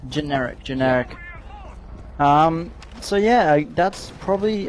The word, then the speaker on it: Generic: Indeed, we're going to see Workshop being the first defended site here for Genetic. Is that how you pronounce it? Generic.